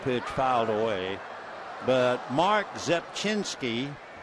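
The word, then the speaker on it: Rzepczynski: But Mark Zepchinski, you just do not pronounce the R. In fact, I guess it's pretty impossible. Zepchinski, 6'1", 206-pounder out of Oak Lawn, Illinois.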